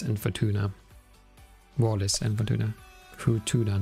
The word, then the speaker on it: Futuna: Futuna, not Fortuna. I was mispronouncing it earlier.